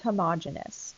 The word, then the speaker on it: homogeneous: We have heterogeneous mixtures and homogeneous mixtures, which is sometimes pronounced homogeneous. So either way you pronounce it is fine.